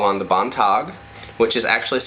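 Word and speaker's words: Beantigh: For home protection, you can call on the Bontog, which is actually spelled B-E-A-N-T-I-G-H, but it's pronounced Bontog.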